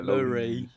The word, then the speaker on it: Lowry: You have to make sure you pronounce the Y though. Yeah, Lowry.